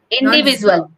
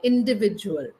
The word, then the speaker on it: individual: visual indivisual visual visual no no indivisual h indiv individual yeah yeah yeah don't say the Z individual okay individual a short